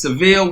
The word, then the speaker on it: Seville: hear you Paul no it's just like the Cadillac you nailed it so